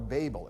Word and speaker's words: Babel: and after the division at the tower of babel or babel if you prefer that pronunciation marvin luminous marvin lubin out in in